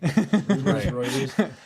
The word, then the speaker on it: Reuters: Reuters.